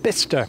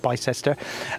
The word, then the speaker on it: Bicester: because my military Railway Bicester now that's definitely the right pronunciation on that one bista not bisester um because that was